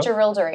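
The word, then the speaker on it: Jerilderie: What's the proper pronunciation? The Gerildery letter. Gerildery.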